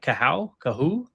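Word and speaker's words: Kohou: Is it Kater Cahul? Is that right? Cahoo. Cahoo. Cahoo. So Kater nailed the first name.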